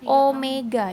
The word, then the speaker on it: omega: yang tadi yang bilang lambangnya kayak wek tapi bukan W nyebutnya adalah Apa omega ini cara bacanya Omega adalah sudut yang